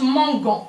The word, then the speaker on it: mangeant: Le E هنا باش ما نطقش mangeant. باش نطق mangeant.